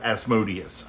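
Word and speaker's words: Asmodeus: think we were saying asmodus right because if you look at you know Amadeus it's like the same thing but just with an s in it so that's how we thought it was um pronounced but later on we found out that it was as modus um we have uh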